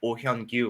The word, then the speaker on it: Oh Hyeon-gyu: to seeing just how ohyang Yu which is uh you you nailed the pronunciation um can uh Thrive